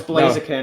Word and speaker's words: Blaziken: I bet you pronounce it Blaziken. Okay, No, no. it's Blaziken.